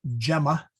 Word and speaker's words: gemma: So celum, the C becomes soft, and then gemma, as in gem.